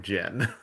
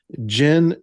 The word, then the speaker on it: jinn: in Arabic cultures and it's been Anglicized to uh pronounced genie. But, we don't uh think of genies, I think, in the way that they think of jinn.